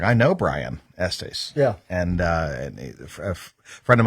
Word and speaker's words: Estes: And I've learned it's pronounced Estes, not Estes.